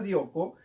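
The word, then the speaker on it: διώκω: la palabra seguir adelante se escribe djoko se pronuncia djoko y significa persistir perdurar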